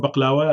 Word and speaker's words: baklava: But my favorite is a Turkish baklava. I'll say it right now, or baklawa as we call it.